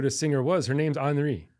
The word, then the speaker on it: Anri: Her name's Anri. Right. Okay. As Japanese would pronounce it, Andi.